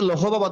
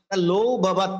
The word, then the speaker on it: লৌহবৎ: যেমন আমি লিখলাম কি লৌ ভবৎ, অনেকে কিন্তু লৌহবৎ বলে, এটা লৌহবৎ নয়, লৌ ভবৎ, অর্থাৎ হর উচ্চারণটা পূর্বের বর্ণের সাথে ওকার সাথে হয়ে যায়, যুক্ত হয়ে যায়।